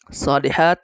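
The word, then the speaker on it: صالحات: আপনারা অবশ্যই খেয়াল করেছেন সলিহাত এই জায়গায় যদি গোল তা হতো থামতে হলে সলিহা হা উচ্চারণ করে থামতে হতো যেহেতু গুলতা আসে নাই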